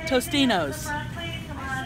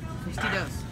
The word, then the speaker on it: Tostitos: This vlog brought to you by Tostinos. Totally pronounced that wrong. Tostitos.